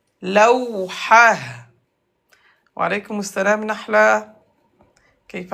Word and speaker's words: لوحة: T fermé se prononce comme Ha. Lawhah. Lawhah.